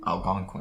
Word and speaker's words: Algonquin: How do you say I pronounce Algonquin? it? Algonquin.